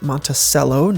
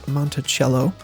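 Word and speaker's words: Monticello: you those the angry hunks montelo Utah is pronounced montelo not monello funny story I was in a middle school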